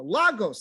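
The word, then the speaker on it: λαγός: of Greece right there there it is Boom Lagos that's how it's pronounced in in Greek that's how it's spelled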